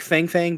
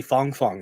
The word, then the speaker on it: Fang Fang: and Fang Fang but it's actually Fong Fong apparently is how you pronounce it but uh you know